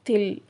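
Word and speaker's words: तिल: இங்கிலீஷ்ல camber camber தமிழ்ல கற்பூரம் ஹிந்தியில நெக்ஸ்ட் வேர்ட் தில் தில்னா எள்ளு அதை நம்ம எப்படி ப்ரொனௌன்ஸ் பண்றதுனா டிஐ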